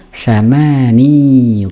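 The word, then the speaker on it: ثماني: Lanjut, sab'u talibatin, thamani talibatin. Perhatikan di sini ya, thamani talibatin. Al-asal, yani aslinya itu thamaniu. Ya, thamaniu berat pengucapannya, maka orang Arab menggunakan mensukunkan huruf ya-nya thamani talibatin.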